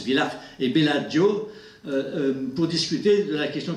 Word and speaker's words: Bellagio: se réunissait en autriche et en italie à village c'est pas pour ça se prononce village les bellagio pour discuter de la question thématique connecte rouille